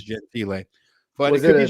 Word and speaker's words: Gentile: mispronounce stuff, but it's written as Gentile with a little thing over the E. So I believe that's Gentile.